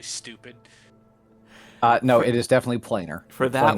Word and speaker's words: planar: No, it is definitely planar. For that planar word binding.